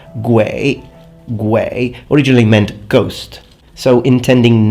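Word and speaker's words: 鬼: because that character, which in Mandarin Chinese is pronounced Gui, originally meant ghost.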